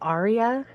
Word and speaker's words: AREA: um do you know the brand Arya it's a it's spelled like area a r e a